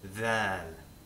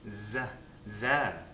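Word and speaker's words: ذ: However, dhal does not really exist in Egyptian. The letter exists, however, it's not pronounced as a the, as you might find in standard Arabic. It's zal. Often you'll hear Egyptians refer to the name of the letter as zal, not dhal. So it's pronounced as a zain or a zay, which we'll get to just a moment.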